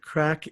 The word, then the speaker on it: craic: It's called craic. It is indeed. Craic. Yes, not Craig, which is how my name is spelled with a G.